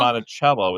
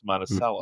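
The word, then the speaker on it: Monticello: It's not Montichello, it's Montel.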